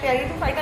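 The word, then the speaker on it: Pteridophyta: हैं, लेकिन टेरिडोफाइटा में इसमें पी साइलेंट होता है बच्चों, इसलिए टेरिडोफाइटा नहीं बोलेंगे, इसको सिर्फ टेरिडोफाइटा बोलेंगे।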